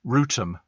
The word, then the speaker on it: Rotham: Johnny Perry says Rotham, pronounced Rootham.